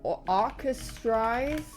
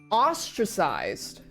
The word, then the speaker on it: ostracized: this girl started getting, I never know how to pronounce this word, or orchestrized? Orchestrized. Like to, basically people were like wary of them. Ostracized.